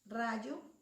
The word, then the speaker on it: rayo: ¿Cuál es la sílaba tónica?